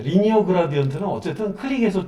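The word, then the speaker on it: linear: 네, 리니어 그라디언트는 어쨌든 클릭해서 쭉 표현되는데 평면적이다라고 해서 LINE 라인에다가 AR 붙여서 라이나라고 하시는 분도 있는데 리니어라고 발음을 하더라고요.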